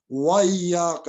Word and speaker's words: إِيَّاكَ: والے جانتے ہیں۔ واو وَإِيَّاكَ نَسْتَعِينُ وَإِيَّاكَ نَسْتَعِينُ، وہ تو ایاک نعبد، ایاک، اب یہ پہ تشدید ہے، ایاک وَإِيَّاكَ، یہ بڑا امپورٹنٹ ہے،